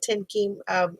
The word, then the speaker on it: Thien-Kim: here and it's actually fun to hear you actually to say my name tim keem in vietnamese instead of the version i give everyone else um so i'm a